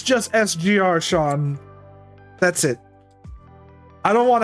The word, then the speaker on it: SGR_Sean: I just go with sgr Sean that's that's fine the the sgr every initial you just say the letter like it's not like some people try to say it's sugar Sean like like the